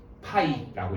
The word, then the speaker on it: π: 이제부터 어떻게 쓸 거냐면 요렇게 쓸 거예요 파이라고 읽으면 돼요 알겠어요 그래서 파이가 의미하는 거는